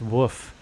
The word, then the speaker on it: Wolf: Page 180 is the coy dog Wolf is pronounced Woof, and I thought maybe it's actually Wolf from Talisman.